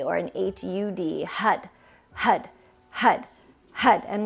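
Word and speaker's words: Har: HUD HUD HUD HUD it's spelled h-a-r but with that R you actually touch the the roof of the mouth with your tongue so it almost sounds like a h a d or an h-u-d Hut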